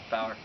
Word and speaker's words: Bauer: battle and shane bauer am i pronouncing that yes shane bauer bower yeah that's what i thought so buggy uh to